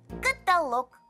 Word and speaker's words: каталог: документов пишется слово doc каталог ударение только на последний слог вот ребята теперь вы